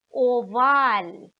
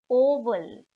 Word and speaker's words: oval: Then das Ei ist oval, oval. So written like the English oval, but pronounced oval.